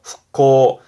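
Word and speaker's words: 復興: 발음은 흑호 후코 경제 부흥의 부흥 그니까 다시 일으킨다.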